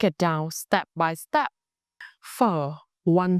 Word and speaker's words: Phở: By the end of this lesson, you will be able to shape your lips to produce the f sound clearly.